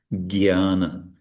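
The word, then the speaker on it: jñāna: He will pronounce it jnana, like G-Y, when it's actually j and not retroflex, cerebral na. In any case, the point is, in North India, they'll say jnana, and in East India, jnana.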